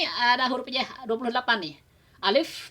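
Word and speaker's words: ألف: Alif pakai F ya. Alif karena alif itu memiliki sifat hamas. Jadi ketika diucapkan alif ya, udara itu tetap keluar nggak tertahan. Alif. Jadi pakai F bukan P. Kalau pakai P balem alif. Salah itu. Pakai F. Alif. Jadi udara tetap ada keluar.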